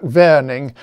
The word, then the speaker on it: Warning: by the way that warning was a german mathematician so his name was probably pronounced something like verning but the trouble is